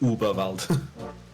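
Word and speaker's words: Überwald: So it's just uber, not eer. Yeah, they they pronounce it uber val.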